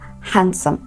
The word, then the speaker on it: handsome: sandwich not sandwich the other word is pronounced handsome handsome handsome not handsome I know that it sounds like a combination of two words like a compound word sand and wit or hand and some but trust me the D the D in these words is silence so this is another rule